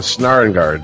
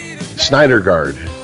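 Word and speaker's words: Syndergaard: no no all right noah snare guard it's not schneider guard i think that's how you pronounce it yeah doesn't he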